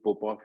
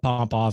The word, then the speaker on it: Popoff: They're both pronounced the same.